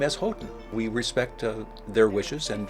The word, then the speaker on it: Houghton: And we do here at Arizona Public Media go with the family's preferred pronunciation, which is Houghton. Boy, I'm not sure I've ever heard that. We say Houghton because the family, the